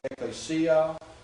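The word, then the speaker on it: ἐκκλησία: Or, for example, ecclesia, which is the second from the last.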